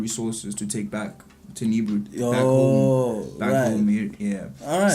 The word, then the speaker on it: Nibiru: Last time I didn't pronounce it correctly. It was correct? Yeah, it's correct. Nibiru.